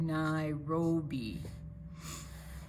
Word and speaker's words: Nairobi: And here we have our asterisk telling us we pronounce that Nairobi.